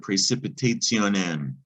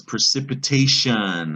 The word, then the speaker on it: precipitation: to english this is precipitation and the thing about ation it's not pronounced anything like it looks it's pronounced asian or asian depending on where you live precipitation is stuff that comes